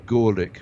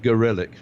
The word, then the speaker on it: Gorelick: Well, in the 1990s, Janet Reno, Jamie, I like to pronounce her name Gorelick, but I think she prefers it to be pronounced Gorelick.